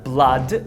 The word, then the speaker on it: blood: Exemplo, blood e flood. Essas duas palavras são pronunciadas com carrot, que é essa vogal aqui, ó.